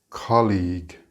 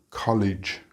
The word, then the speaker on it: colleague: of this word is colleague League think of league as in La Liga for example it is not College college is kleio or